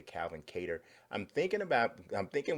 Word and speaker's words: Kattar: from his management team and they said Calvin cater so I'm pretty sure they know what it is so I think we need to change that pronunciation the Calvin cater at